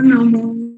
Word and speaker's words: নমঃ: নমঃ কথাটা বলতে হবে, বিসর্গ থাকে তো, তখন উচ্চারণ করতে নমঃ। হ্যাঁ হ্যাঁ হ্যাঁ সবাইকে বলে দিচ্ছি, যখনই বিসর্গের উচ্চারণ লাস্টে করতে গেলে তখন নমঃ উচ্চারণ করতে হবে।